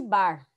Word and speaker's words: Barr: chamada de corpúsculo de barr é com dois erres vamos ter e se pronuncia assim de bar de bar não sei nem lembra